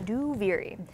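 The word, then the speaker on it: Duviri: saying out loud is a that's how you pronounce it by the way do viri and then do not listen to us then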